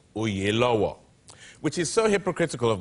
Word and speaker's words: Oyelowo: Oprah was on last week, and she told me how to say it because we said Oyelowo. Yeah. But it really is Oyelowo, which is so hypocritical